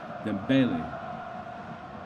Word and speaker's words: Dembele: Help me with that pronunciation again. I want to get it right. Dembele.